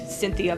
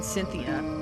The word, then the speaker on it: Cynthia: I don't know if her name refers to anything, but it's clearly ethnic, Cynthia Velasquez, and the first syllable sounds like sin.